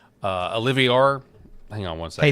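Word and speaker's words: Oliveira: Oliviera. Yes. Oliviera is how you say it.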